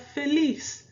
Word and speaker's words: feliz: Again, let's break it up into the syllables. So we have fe and lis. 1 and 2. So final syllable, meaning the first syllable when we're doing the counting. Okay? So it's going to be on the lis part.